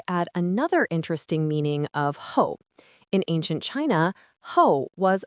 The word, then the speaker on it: 后: Ho. Ho.